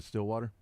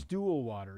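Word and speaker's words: Stillwater: It's just north of and then they changed it to Still Water. That's not the capital. That's pronounced stool water. You're saying it wrong.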